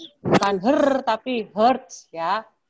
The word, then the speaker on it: hertz: Ya, hertz. Bukan tapi hertz ya.